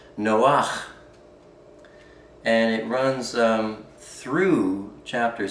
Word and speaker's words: Noah: Chapter 60 begins with, it's titled A Fragment of the Book of Noah, properly pronounced Noach.